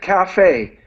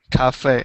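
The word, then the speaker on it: café: French, so we pronounce it cafe. Cafe, okay.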